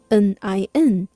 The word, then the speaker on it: 您: 您好，您好， The pinyin of 您 is spelled N-I-N, 呢音 nin.